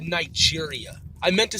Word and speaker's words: Niger: ultimately I believe sit say Niger in relation to the pronunciation nee share but before I did